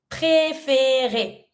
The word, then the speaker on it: préférer: To prefer, préférer. Every time you have the E with your accent, you have to pronounce it. Préférer.